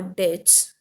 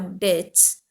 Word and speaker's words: debt: paid back all our debts before we leave the city the word d-e-b-t is you have to pronounce it as debt okay children the letter b is silent it should be pronounced